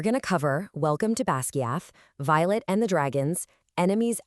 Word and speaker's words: Basgiath: Section 1, Welcome to Basgiath, the Deadly War College. This is where our story kicks off, and by the way, author Rebecca Yarros says it's actually pronounced Basgiath.